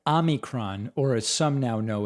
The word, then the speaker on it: omicron: variant should be pronounced omicron and not omicron not defending the president's pronunciation but you should know that in ancient greek there are two vowels there's a short o and a long o and omicron which is